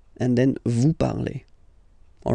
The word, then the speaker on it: parlez: Okay, remember, a Z, when you combine them together, you get the sound E, vous parlez.